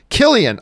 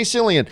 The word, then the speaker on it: Cillian: Cillian Murphy writes, hey, John, just letting you and Rob know my name is pronounced Killian. Oh, good to know. Killian. Because I always say Cillian.